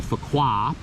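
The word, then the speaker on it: Phú Quốc: and we went to fukuoka which i believe is how you pronounce it p-h-u-q-u-o-c the island and we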